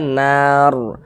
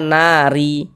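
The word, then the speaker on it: النار: Maka ini kita baca nar. Jangan dibaca nari. Kalau kita berwakaf, berhenti di sini jangan dibaca nari. Jangan kayak gitu, tapi dibaca nar begitu.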